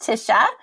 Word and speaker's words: Tisha: as well is there tacha is there anything we're missing any terrible pronunciation on my side on on your name or anything else no you it was all great my name is pronounced Tisha uh but I you